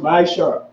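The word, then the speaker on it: מעשר: Means 10th in Hebrew and pronounced Ma'ashar.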